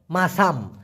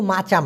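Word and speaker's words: masam: হবে সাঙ্গাত মাসাম ক্লিয়ার মাসাম এটা কিন্তু মাচাম না একটা আছে আবার মাচাম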